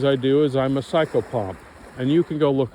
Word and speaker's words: psychopomp: of the things I do is I'm a psychopomp and you can go look it up I'm not going to spell well I'll spell it uh psycho PS y c h o p m p psychopomp Yung talks about it other people talk about